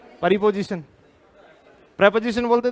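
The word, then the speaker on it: preposition: एक बार फिर बोलना इसे बोलते हैं प्रपोजिशन एक बार फिर बोलना ना कि प्रीपोजिशन आप क्या बोलते थे प्रीपोजिशन प्रोपो जिशन बोलते थे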